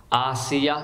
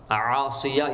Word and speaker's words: آسیہ: رضی اللہ تعالی عنہا۔ آسیہ یعنی حمزہ کے ساتھ آسیہ اور سین کے ساتھ عاصیہ، یہ غلط تلفظ ہے، اس کا معنی چینج ہو جائے گا۔ فرعون تو حضرت موسیٰ